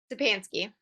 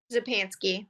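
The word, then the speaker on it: Czapansky: Zapansky. What is that again? Zapansky. The C is silent.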